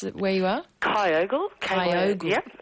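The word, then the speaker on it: Kyogle: We have uh Linda from is it how do you pronounce it where you are? Kyogal.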